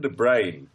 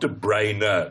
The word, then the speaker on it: De Bruyne: It's the most simple pronunciation possible, as in brain that you have inside your head, or lack of in the BBC pronunciation department. Yeah. It's not De Bruyne because there's an E on the end.